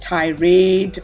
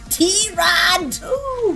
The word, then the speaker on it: Tirade: And that's right, it's not pronounced tirade or tirade or tirade, but T-Rod! The way we like to say it, and we've been saying it since episode 1, right, Raymond?